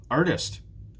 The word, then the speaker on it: artist: Which one is stressed? The first one again.